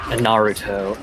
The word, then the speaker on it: Naruto: or what is it uh Naruto is the Naruto as the Japanese pronunciation but um I'm not too picky on